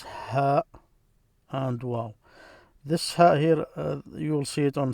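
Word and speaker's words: هي: In Arabic, it's here.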